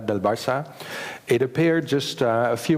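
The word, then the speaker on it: Barça: wrote my book about barca in Spanish it's Bara it appeared just a few months before Chums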